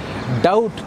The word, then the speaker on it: doubt: ඊට පස්සේ doubt කියන වචනේ B එකක් වෙනවා doubt කියන වචනේට.